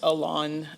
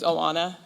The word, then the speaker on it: Alona: My name is pronounced Alona Fyshe. My first name's Alona, and my last name's Fyshe.